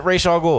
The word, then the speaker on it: Ra's al Ghul: There's like, and pronounced it Ra's al Ghul.